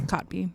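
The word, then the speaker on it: Kotb: How do you pronounce her last name? Cotby? Cotby? It's Cotby.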